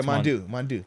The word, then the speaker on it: Mondo: It looks like Mondo, but remember he said they just changed the name to Mondu. Remember that's what he said. He said it's spelled Mondo, but he was like, we just call it Mondu.